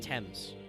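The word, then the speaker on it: Thames: uh it's uh pronounced temps I know it's spelled with a th yeah the temps River the temps my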